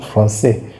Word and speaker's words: français: Wherever you see the cedille, you know that you pronounce the C like S.